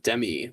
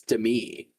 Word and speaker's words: Demi: I found out that that's how you say her name, and it's not Demi like Demi Lovato. It's Demi.